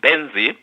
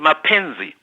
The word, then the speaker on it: Mbenzi: uh you know the my surname is Benzi and when you go sometimes you go to places you hear someone saying menzi. In that case my name is butchered because um you know the the person who has pronounced the name has added certain sounds which do not exist in my name.